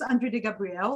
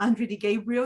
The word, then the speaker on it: Andrea De Gabriel: what you do so my name is andre gabriel or andre d gabriel it's entirely up to you how you pronounce it um andre i think just keeping it to andre is much easier and i'm the heart